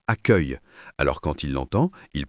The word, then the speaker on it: accueil: Par exemple, un élève connaît le mot accueil mais ne sait pas qu'il se prononce accueil.